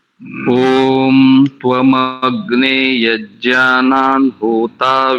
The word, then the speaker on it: ओम: आरंभ कीजिए एक बात दूसरी ओम शब्द का उच्चारण प्लुत में करना चाहिए मंत्र से पूर्व जब